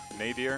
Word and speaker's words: nadir: Nadir. Okay. Nadir. Close. Yeah. Very, very close. It's Nadir.